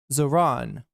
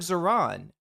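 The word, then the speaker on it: Zohran: Yeah, I think he named it for the election season, but then he couldn't get them to Zoran. Oh, Zoran. So it's like Zoran. I feel like everybody's mispronouncing it then.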